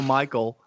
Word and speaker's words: Mixael: he can block me at Michael, which is spelled Mixael. Yes, it's spelled with an X, but that's Michael on Twitter.